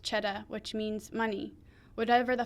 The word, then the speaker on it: Cheddar: We're on Cheddar Avenue, which is pronounced Cheddar, which means money.